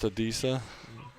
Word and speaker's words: Adisa: you say his first name Adisa it's just Adisa Adisa Isaac Eagles I had them trading up